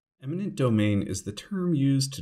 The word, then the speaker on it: eminent domain: domain to your vocabulary make sure to avoid the common mistake of pronouncing or writing it as imminent domain i am not exactly